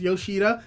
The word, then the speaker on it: Yoshida: between dinji and Yoshida I I believe his name is Yoshida I swear if I've been saying it wrong I'm going to be very very disappointed so give me a moment yes it is Yoshida and this is something